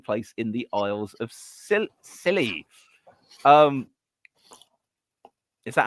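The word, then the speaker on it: Scilly: No, it is it's the it's pronounced silly.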